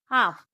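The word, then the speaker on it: half: इसका अगला रूल है जब ए ओ यू इन तीनों में से किसी के बाद एल आए तो एल साइलेंट होता है। जैसे एच ए एल एफ हाफ टी एच ए एल के चौक एफ ओ एल के फोक पी ओ यू एल D good.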